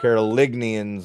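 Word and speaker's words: Carolingian: I know I say it like North Carolina, but it's Carolinians or Carolinians. There's a G in there. Um, but they also claim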